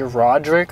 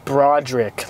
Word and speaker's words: Broderick: Oh, I found out his real name isn't actually Roderick, like from Diary of the Wimpy Kid. It's Broderick, like B-R-O.